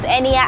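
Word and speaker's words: Niya: My name is Enia, as we all know.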